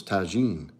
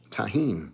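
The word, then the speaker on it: Tajín: crew house tahen okay I thought it was Tajin tahen I've been saying it wrong all these years why y'all let me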